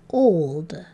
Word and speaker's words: old: here's the first one instead of saying ah like we expect this o to do it doesn't so how do we read this word it's old and here's our other